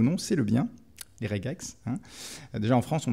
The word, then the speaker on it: regex: se prononce regex pas redjex parce que c'est le J dur de regular maintenant vous pouvez bitcher